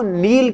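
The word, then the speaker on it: kneel: को भरना अब देखो नील क्या होता है यह समझिए इसमें नील ही साउंड आता है के साइलेंट रहता है इसमें जैसे वो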